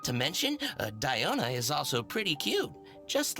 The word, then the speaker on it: Diona: guess i kept i i called her diona for the most part because i think that's how the japanese uh pronounces that name but apparently in english it's daiyo knight but yeah i was